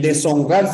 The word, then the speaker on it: deshonrar: Este es el inglés la sh no existe en nuestra lengua no es una palabra castellana es una palabra de incorporación de una lengua meridia bien pero el Ash no por lo tanto no pronunciamos de una h y la H no tiene sonido recuerda que en separaciones